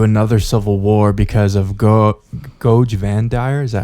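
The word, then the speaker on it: Goge Vandire: As the Imperium was thrown into another civil war because of Goj Vandire, is that how you say it?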